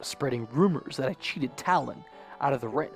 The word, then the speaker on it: Talon: out of the rent I've been saying Malin haven't I I knew I was saying it wrong but I couldn't figure out if it was Talan Malan or like Jimmy Fallon you know so the